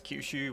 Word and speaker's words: Choshu: future long live the emperor so apparently it's kushu which is absolutely nothing like what I was pronouncing it on the uh loading screen so